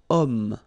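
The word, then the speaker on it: homme: possibility here we've got om man okay uh but then o is here we've got this ash letter remember Ash is not pronounced okay so you've got the sound of O at the beginning of of this word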